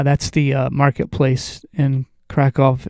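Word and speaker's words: Kraków: People said, "Well, if you like crackouts, Kov is actually how it should be pronounced."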